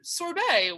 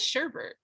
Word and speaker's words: sorbet: you do you say sorbet or sherbert oh sorbet what's sherpa what is sherbert it's a way that people pronounce soray what this is america it's sorbet